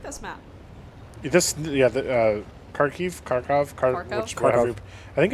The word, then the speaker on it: Kharkiv: Kharkov. Whatever. I think it's technically pronounced Kharkiv. Oh. And I think it's how it's supposed to be pronounced.